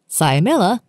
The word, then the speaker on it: cyamella: Patella, cyamella, fibella. The cyamella is a sesamoid bone, usually embedded within the